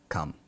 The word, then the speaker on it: calm: Calm, C-A-L-M, calm, pronounces calm.